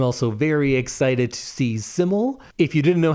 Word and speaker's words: Syml: I'm also very excited to see Syml. If you didn't know how to pronounce it, that's the artist that's SYML, and it's usually always capitalized.